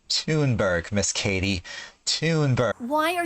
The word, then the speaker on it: Thunberg: mistress of misinformation herself greta thundberg okay only two words in and she's already wrong her last name is pronounced toonberg miss katie tunber why